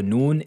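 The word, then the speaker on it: نون: Habituellement, la lettre Noun se prononce avec le bout de la langue qui rentre en contact avec le début du palais.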